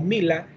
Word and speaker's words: Milla: un italiano de apellido milla Y entonces este en latín pues se se pronuncia como Mila difra porque la plantita que